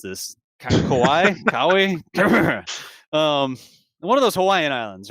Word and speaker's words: Kauai: Kauai? One of those Hawaiian islands, right? I think it's pronounced actually Kauai, like Thank you. Hawaii with a K.